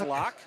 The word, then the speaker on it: Loch: what you've been calling I believe it's lock lock moved fast spelled like Loch Ness yeah and he's been